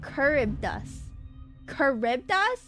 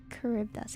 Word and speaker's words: Charybdis: Oh, Charybdis. That's how Charidus is said. They should spell it like that then. It's Greek, so the ch is a k sound. Charybdis, gotcha.